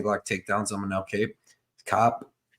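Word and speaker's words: Kape: Cop, you spell it Cop. I always say Cape. I do too because it's basically spelled Cape, but we're gonna call it Cop because I got corrected on it.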